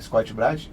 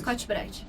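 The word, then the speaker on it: Scotch-Brite: fomento parta da da Scott Brad é é a pronúncia correta é essa Scot bright isso é ela vocês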